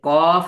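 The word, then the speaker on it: ق: এই দেখেন এই যে কফ এটা জিহ্বার গোড়া তার বরাবার উপরে তালুর সঙ্গে লাগিয়ে জিহ্বার গোড়া সবাই বলেন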